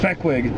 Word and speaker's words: Fehquig: then you know, it sort of morphed into Fehquig, and I just like the sound of it.